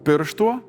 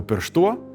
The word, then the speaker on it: pirštù: In the beginning, it used to be pir̃štuo, later - pirštúo, and now with a shorter ending - simply pirštù “a finger”.